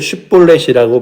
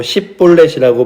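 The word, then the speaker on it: שיבולת: 그래서 6절에 보시면 그들에게 이르기를 쉿볼렛이라고 발음하라 하여 에브라임 사람들이 그렇게 발음하지 못하고 십볼렛이라고 발음하면 길르앗 사람들이 죽였다는 거죠.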